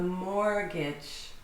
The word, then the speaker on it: mortgage: A mortgage. The T is silent, completely silent.